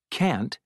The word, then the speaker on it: can't: Rivera murals pronunciation can't and shouldn't part a listen and practice these statements notice how the T in can't and shouldn't is not strongly pronounced you can get a